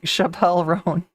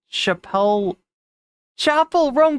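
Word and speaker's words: Chappell Roan: See, one person mispronounces a name and then now all of a sudden I'm saying Chappelle Roan. When I know, how much would it take to get Chapel Roan?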